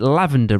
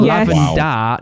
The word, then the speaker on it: lavender: It's spelled lavender, not lavender. And I have a picture of it. I'm desperate. Leviosa. It is getting posted on Instagram, and I'm tagging Universal in it at some point. I haven't done it yet. But she's right. It's spelled A-R, like D-A-R at the end, not D-E-R, which is what it is.